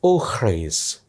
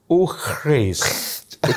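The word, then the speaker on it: eau fraîche: Yang paling rendah itu adalah eau fraise. Eau fraise.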